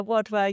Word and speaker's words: Wadhwa: Today we're here with, is it Wadwa? Yeah, Wadwa, yeah, it's an Indian surname, so it's quite hard to pronounce, but yeah.